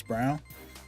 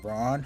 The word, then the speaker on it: Brown: performances from like Chris Brown or Braun how you round pronounce it but it's brown okay Brown yeah that was